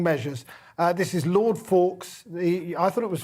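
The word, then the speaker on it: Faulks: uh this is lord fawkes the i thought it was fawkes but you said you don't pronounce the i think the l is silent as in hope i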